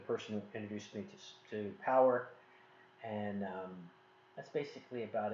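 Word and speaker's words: Powur: when I say no I'm not saying solar it's the company's name is power it's p-o-w-u-r is how they spell it so the person who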